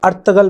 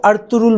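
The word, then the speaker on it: Ertuğrul: یہاں پہ لاسٹ والا جو آر ہے وہ سائلنٹ ہوگا اور ارطغرل بنے گا یہ، اور ای جو ہے وہ اے کا ساؤنڈ کرے گی۔ جو ہمارے پاس ٹرکش ورژن ہے اس میں بھی سپیلنگ یہی رہیں گے، لیکن اس میں جی سائلنٹ ہوگا، جی نہیں بولتے وہ، اس لیے وہ ارطرول بولتے ہیں، ارطرول۔ تو ہمارے پاس وہاں پہ جی سائلنٹ ہوتا ہے، سپیل وہی رہیں گے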